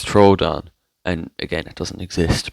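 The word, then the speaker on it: Troodon: being here and also it's not pronounced trudon it's Troon and again it doesn't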